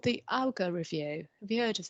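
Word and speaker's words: Augar: concerned about i think it was called the alga review have you heard of this i don't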